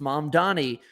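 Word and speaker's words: Mamdani: in the New York City mayoral debate, like Mom Donnie had that whole thing against Cuomo where he's like, "And my name is actually pronounced Mom Donnie."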